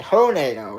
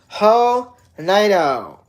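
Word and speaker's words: Hernando: H E R N A N D O That's It's almost It almost spells like a tornado. It's almost spelled the same way as a tornado. A hornado. Okay. Hornado is what that's called. What that town is called. Hornado. Hornado.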